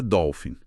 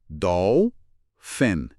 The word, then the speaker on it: dolphin: Então, devagar, Dolf Fen. E em velocidade normal, Dolphin. Dolphin. Interessante o pH ter som de f, né? Como em farmácia, filosofia.